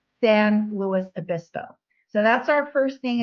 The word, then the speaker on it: San Luis Obispo: way to pron pronounce it's like LS and Clark Sam Lewis abiso so that's our first